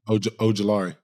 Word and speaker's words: Ojulari: Ooh, Azeez that is Ojulari. true. That is Brian true. Burns, Dexter Lawrence. I've never said Z's last name out loud. Throw that out there again. Ojulari. Okay. Yeah, Ojulari.